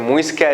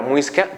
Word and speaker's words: muisca: cuando llegan los españoles, ellos no pueden pronunciar la palabra muisca, por lo que ellos comienzan a denominar mosca, mosca, mosca, hasta que ya por fin logran decir muiscas.